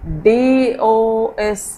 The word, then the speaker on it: dose: You have learned this word O sound with silent E.